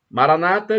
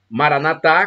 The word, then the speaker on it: Maranatha: do dialeto de Jesus Maranata ou Maranata Maranata dizem os protestantes com a tônica na penúltima sílaba Maranatha com a tônica na última sílaba dizem nós católicos mas Em ambos os